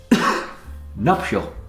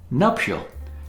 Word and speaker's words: nuptial: Nuptial, concerning marriage. Nuptial, also mispronounced as nuptial, but it's nuptial.